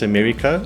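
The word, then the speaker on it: Américo: If you obviously pronounce it in the English way, it's Americo. Americo. So it's got a little thingy on the E. Oh, yes. So you say eh. So it's Americo.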